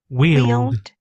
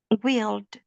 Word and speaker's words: wield: So when you listen to that word there, wheeled, it's basically the same sound as this other word, that word, is it double A?